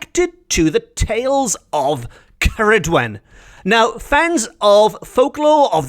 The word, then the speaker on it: Ceridwen: to the tales of Ceridwen.